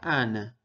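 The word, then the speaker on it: أنا: boca al lado y esto se pronuncia Ana significa yo en este caso tenemos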